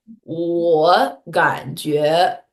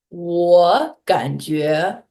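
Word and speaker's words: 我感觉: tones, they told us two third tones back to back. Your first tone is going to become a second tone. For example, 我感觉嗯 it should be 我, but we are not going to say 我感觉.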